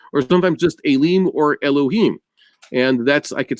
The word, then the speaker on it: Elohim: sometimes just Elim or Elohim. And that's, I could say that, you pronounce the hey, because it's not referring to the God himself. It's referring to his emissaries that he created.